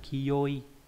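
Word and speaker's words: 清い: Âm cương yomi là kiyoi. Kiyoi.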